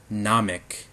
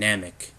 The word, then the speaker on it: Namek: but it's actually called Namek So the pronunciation on the A is a little different in Japanese as opposed to English. It's called Namek in Japanese and Namek in English, and instead